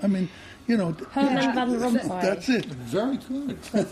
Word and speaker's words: Herman van Rompuy: Herman van Rompuy.